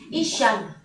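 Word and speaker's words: אִשָּׁה: 여자가 뱀에게 자, 말하되 그러면 이 여자는 뭐라고 읽어야 됩니까? 이샤. 이샤.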